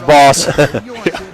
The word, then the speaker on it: Baas: is a boss but that's how you pronounce it as boss i just got a